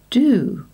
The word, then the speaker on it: due: For example, with the word dew, in the UK, it usually has a U sound. But in America, it is often pronounced with an oo sound, and they say do.